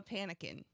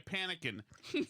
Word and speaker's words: Panican: It's like Republican. Well, I thought it was like Pelican, but you're panicking.